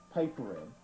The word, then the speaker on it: Papuren: On this tape, we will examine the rare forms known as Hakucho, Papuren, also pronounced paipuren, and Wando, pronounced Wanduan in the original Okinawan dialect.